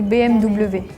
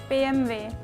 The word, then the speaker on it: BMW: The main difference seems to be the W pronunciation here. Like the BM is like everyone is spelling it out. So it's all in our local languages. In Serbia, we don't have W. It's just V.